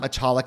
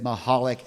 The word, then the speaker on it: Michalik: There is no C pronunciation in her last name. It is not Michalik. It is Mahalik.